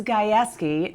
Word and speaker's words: Gajewski: And yes, it is Gajewski. No matter how you think you want to pronounce it, her name is Chelsea Gajewski.